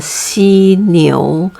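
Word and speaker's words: 犀牛: we call it a c neo how do you remember c see just try to remember in english alphabet as a b c c okay so c neo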